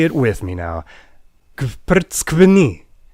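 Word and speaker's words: გვფრცქვნი: it with me now, Kvrtskvni. Yes, that is one single syllable. It means you peel us, and it starts with you pronouncing a bunch of consonants before you get any relief with that vowel.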